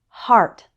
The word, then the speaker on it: heart: there are some exceptions it's pronounced r like in car in the word heart it's pronounced er like